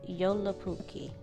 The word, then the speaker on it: Joulupukki: So the Finnish word for Santa Claus is pronounced Joulupukki.